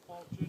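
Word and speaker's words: Qualchan: see on their deck you spell it qualu but it was qualin you see that there's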